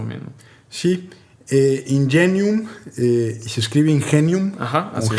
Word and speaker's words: Ingenium: No a mi humilde conocimiento, pero en así ánimo de comercial, si no te molesta, por ejemplo, tengo entendido que Ingenium está haciendo a partir del lunes, creo, como